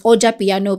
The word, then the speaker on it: Ojapiano: It's Ojapiano, but the J I think is silent.